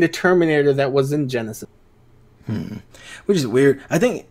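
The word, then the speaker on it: Genisys: It's pronounced Genesis, but it was spelled like a child wrote it.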